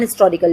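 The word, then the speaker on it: historical: पहले हम इसको एन हिस्टोरिकल लिखते थे, ठीक है, जब हम बोलते थे ना एच जो है वो साइलेंट पे रहता था। बट अब जो हम प्रोनाउंस करते हैं तो अब आप हिस्टोरिकल प्रोनाउंस करते हो, अब आप कॉन्सोनेंट देते हो वहां पे साउंड, दैट्स वाई अब इसको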